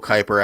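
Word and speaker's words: Kuyper: And real quick, as somebody who has has in the past tried to Google Kyper after hearing hearing him referenced on um audio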